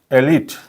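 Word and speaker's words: elite: इ अँड त्याचा उच्चार होतो करेक्ट उच्चार होतो एलिट एलिट okay what is द करेक्टिएशन एलिट एलिट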